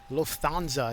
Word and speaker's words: Lufthansa: good and that's good Lufthansa is how you pronounce it correctly with the English pronunciation Lufthansa okay I'll practice